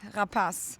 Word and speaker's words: Rapace: Yeah, it is French. You know that, right? Rapas.